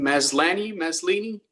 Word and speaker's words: Maslany: How do you pronounce her name? Maslany.